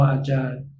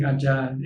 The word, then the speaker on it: Ajahn: japanese teacher in parties called acharya in time we call ajay it's the same word but different pronunciation in the book of